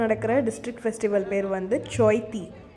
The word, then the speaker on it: Chaithi: ஸோ இங்கே ராயகடாவில் நடக்கிற district festival பேர் வந்து சோய்த்தி. ஆனால் CHAITIன்னு தான் போட்டிருப்பாங்க. ஆனால் இவங்க ப்ரொனவுன்ஸ் பண்ணுறது வந்து சோய்த்தின்னு ப்ரொனவுன்ஸ் பண்ணுறாங்க.